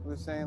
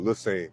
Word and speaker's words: Lusane: Lusane, like you saying with an L. Oh, Lusane.